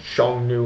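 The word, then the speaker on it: Xiongnu: i o n g n u and I pronounce it Shong new and Sh Shan is my best pronunciation I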